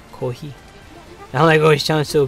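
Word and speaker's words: コーヒー: how they say coffee in Japan they say Kohi yeah you know they don't they don't you know they pronounce the S like an egg an H Kohi now I've always challenged so cute I love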